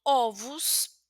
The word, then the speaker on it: ovos: Entonces, por ejemplo, si quiero colocar ovu en plural, son ovos, entonces también será una pronunciación como una u, la segunda o.